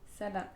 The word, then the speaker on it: 사람: Salam. Ah oui, en fait le L c'est tu prononces vraiment avec En fait, le c'est la R, même lettre. Ouais, c'est L, R, c'est tout le temps R.